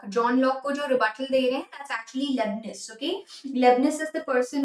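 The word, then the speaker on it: Leibniz: don't go wrong with this so leian philosophy lebanes is the one who's giving a rebuttal to John Lo John Lo rebut that's actually LeBus okay LeBus is the person who's doing that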